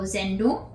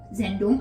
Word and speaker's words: Sendung: So Sendung, Sendung, I already know that's how it is spelled. We have this little apostrophe up here to indicate emphasis. So since the emphasis is at the beginning of the word, it's at the beginning.